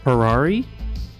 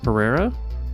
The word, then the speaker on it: Pereira: but he's got the Thomas parari not Pereira oh Pereira pereria I got some pronunciations here that I'm reading and might my slow brain has to figure it out but that's Thomas pereria in fourth place by